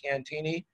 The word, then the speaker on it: Cantigny: been out here and if you speak french you know we don't pronounce it the french way we do pronounce it cantini uh but in the